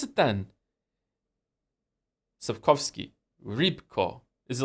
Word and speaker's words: Sapkowski: How do you pronounce it then? Sapkowski.